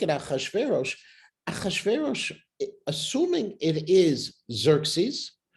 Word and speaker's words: Xerxes: assuming it is Xerxes, which we totally mispronounce, because the X is not supposed to be pronounced as an X. It's more like a chet, it's a closer pronunciation of the way it's supposed to be said.